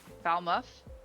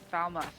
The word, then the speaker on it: Falmouth: Much like muff, Falmouth. Falmouth.